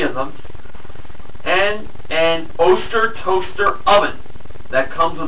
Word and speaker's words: Oster: I don't think it's pronounced Oster. I think it's Oster.